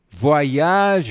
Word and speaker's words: voyage: Voyage, voyage. Mais uma vez, como é que a gente pronuncia? Voyage. Parece que você dá uma volta no mundo.